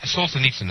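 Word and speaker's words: Solzhenitsyn: Alexander SS hiton yeah uh saniton is the correct pronunciation of the name he says to do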